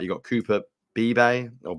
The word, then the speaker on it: Beebe: If you want to just go pure offensive line guard, I think, whether I'm pronouncing this right, you got Cooper Beebe or Bebe. Cooper Beebe.